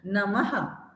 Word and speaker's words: नमः: इसका उच्चारण हम करेंगे प्रातः, नमः, अतः।